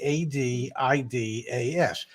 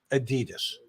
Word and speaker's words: Adidas: one uh the company begins with an a a d i d a s and in this country everybody pronounces it Adidas yeah here it is okay and and the